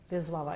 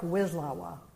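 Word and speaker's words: Wisława: Jimorska Bizlawa. It looks like Wizawa Bizlawa. So I I like this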